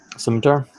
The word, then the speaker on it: scimitar: Scimitar?